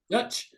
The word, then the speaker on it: Deutch: So think serendipity, just another crazy kind of light holiday-esque movie that stars Zoe Deutch, D-E-U-T-C, Dutch, Zoe Dutch, Kendrick Sampson from Insecure fame, Shay Mitchell, Ray Nicholson, Leah Jeffries, and the former Batwoman, Javicia Leslie.